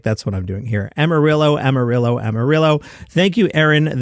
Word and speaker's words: Amarillo: Because it's pronounced like Zillow. Sounds like you might need to put a trip to Amarillo and a 72-ounce steak on your list for Travel is Back. Apparently, I said Amarillo last week, and I